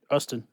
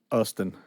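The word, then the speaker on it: Justin: Ustin. Ustin. The J is silent.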